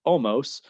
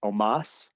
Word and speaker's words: Omos: You got AJ Styles, not in his very first match, teaming up with Omos, or Omos, I believe is the proper pronunciation.